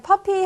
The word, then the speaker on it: puppy: 자, puppy 하실 때는 그 P 발음 잘 하셔야겠죠? P-U-P-P-Y니까 뭐 F 발음이 들어간다든지 이런 거는 삼가해 주셔야 되겠습니다.